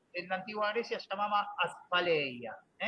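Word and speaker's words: asphaleia: Un término que Aristóteles en la antigua Grecia llamaba aspaleia, así como se pronuncia aspaleia, pero se escribe A-S-P-H-A-L-E-I-A, aspaleia.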